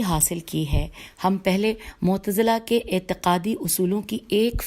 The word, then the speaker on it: معتزلہ: جس کا عنوان ہے معتزلہ، اور آگے بریکٹ میں لکھا ہے 1 یعنی نمبر 1. معتزلہ کی ہجے ہے میم عین تے ز لام ہے.